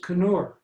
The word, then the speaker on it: Knurr: Werner Knurr, and I took the microphone out of his hand and said, with all due respect, Dean Burson, we pronounce the K. It is Knurr.